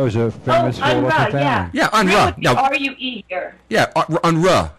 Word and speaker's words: Unruh: Yeah, I say it's Unruh. Ruh, R-U-H, Ruh. That was a famous family. Yeah, Unruh.